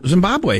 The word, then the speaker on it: Zimbabwe: Am I saying it wrong? No, Zimbabwe is correct.